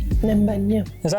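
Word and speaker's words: Ninh Bình: Ninh Binh, yeah. Is that how you pronounce it?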